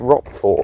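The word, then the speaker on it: Roquefort: It's called rock for pronounced o r or spelled o r r q u e f o r t.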